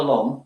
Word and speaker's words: L'Homme: Prada L'Homme. Prada L'Homme, not L'Homme. Not L'Homme, no. You can pronounce it how you want, but L'Homme.